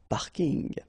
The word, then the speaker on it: parking: from English but still you should pronounce it the French way parking parking okay and the